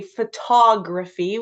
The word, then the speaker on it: photography: we say we say photography we put the we put the emphasis on the the T in when we say photography and so then you'd